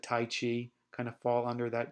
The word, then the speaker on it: qi: and things like Tai Chi kind of fall under that category of qigong. That Qi is pronounced chi, or it's spelled a couple different ways.